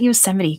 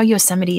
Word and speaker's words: Yosemite: us don't know that like yosemite sam there you go yeah um the looney